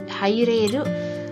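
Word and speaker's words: 入れる: Di sini meskipun kanjinya sama, penulisannya sama persis dengan kalimat sebelumnya, pembacaannya atau cara bacanya itu berbeda. Di sini dibacanya haireru, haireru agar bisa masuk daigaku ni di perguruan tinggi benkyou shimasu.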